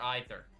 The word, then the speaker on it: either: Uh, you can pronounce either. Either is either or either.